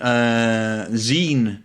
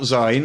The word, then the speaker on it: zine: It's been published in zine format, not Zine, as I'm often told, zine format.